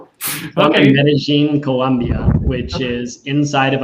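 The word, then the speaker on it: Medellín: So the two L's or a Y would be like a J, Medellin. I'm in Medellin, Colombia, which is inside of a mountain range.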